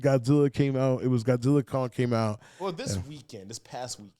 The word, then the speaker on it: Godzilla x Kong: go ahead go ahead Godzilla Kong the new it was supposed to say x Kong but the director came out said you're actually not supposed to pronounce the X so Godzilla Kong Godzilla Kong the new